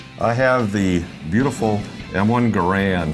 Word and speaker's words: Garand: I have the beautiful M1 Garand. Some people pronounce it M1 Garand, but either way is fine.